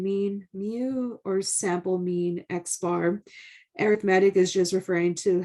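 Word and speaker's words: x̄: a little bar above it and this is pronounced x bar and this is computed using the sample data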